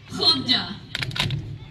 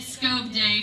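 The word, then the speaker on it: Skövde: really what it's called HDA try to say that and it's spelled s k oov D E I said it scob day for months before I went but in we went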